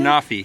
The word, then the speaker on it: Anafi: So we just finished flying the Autel Evo and the, how do you pronounce that again? Anafi.